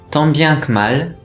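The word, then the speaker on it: tant bien que mal: 難しくありません。tant bien que mal、 tant bien que mal と発音します。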